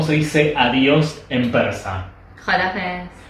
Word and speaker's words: خداحافظ: Jolafets. Jolafets, ¿está bien?